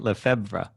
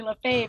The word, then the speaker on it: Lefebvre: problem with it because in my head i'm pronouncing it lefebvre yeah right and for you for a couple